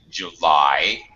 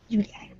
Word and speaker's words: July: Okay, Julia, just a couple of pronunciation. July. Okay. July.